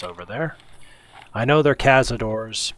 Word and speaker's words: cazadores: I know they're cazadores, but I'm going to pronounce it more Spanish speaking because I like the sound of it, the way it rolls off the tongue.